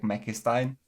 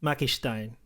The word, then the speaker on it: McMakistein: right now I think the most common thing people say is just make mecha Stein you know like that's just how people pronounce it I guess so I